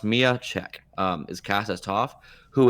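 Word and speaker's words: Miya Cech: But the casting we have is Mia Chek, and that's pronounced Mia Chek.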